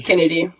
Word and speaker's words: Kennedy: I don't know how to actually pronounce her name. Is it Kennedy or is it Kennedy? Yeah, it's Kennedy.